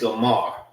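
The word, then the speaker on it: Gomer: And their name, Gomar, is pretty much the same as the Hebrew name. All right. The same way how you say it in Hebrew, it's Gomar. This is Gomar and this is Gomar.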